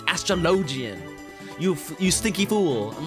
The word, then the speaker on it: Astrologian: do you pronounce astrologian i say astrology but that i only said it like that because my friends corrected me and they like yelled at me they're like ron no it's astrologian you you stinky fool